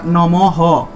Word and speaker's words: নমঃ: আছে ব্যঞ্জন নৈবেদ্য নমঃ বিসর্গ থাকায় হ তাহলে হবে নমহ নমহ উচ্চারণ তার প্রথম লাইনটা আমি